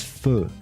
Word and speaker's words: feu: word foo comes from the French word for fire. Fire, which is feu, F-E-U. Right. But the Americans F-F-E-U. couldn't pronounce it. I mean, they heard the pronunciation and misspelled it. Misspelled that. So it's F-O-O.